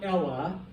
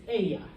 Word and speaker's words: ella: here foreign okay so it's important to not do the Double L as a Double L okay it's gross all right so may yamo or Aja it's not Ella it's Aya okay that I will